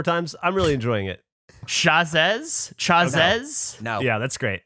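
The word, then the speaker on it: Chasez: want to hear it it is jc chazay chazy that's that's what that's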